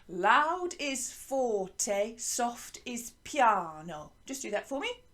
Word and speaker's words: piano: you say piano piano so it's spelt like a piano but you say it with an italian accent piano you say soft is